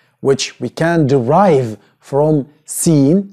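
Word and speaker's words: سين: Seen. Which is pronounced S.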